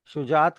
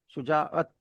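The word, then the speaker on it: شجاعت: शुजात का कोई मतलब नहीं होता, शुजाअत का मतलब होता है।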